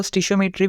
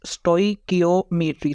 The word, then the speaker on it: stoichiometry: अब कुछ लोग इसको स्टिशिइसोमेट्री भी करते हैं। लेकिन आपके बुक में उसने लिखा हुआ है इट इज प्रोनाउंस्ड एज स्टइकियोमेट्री।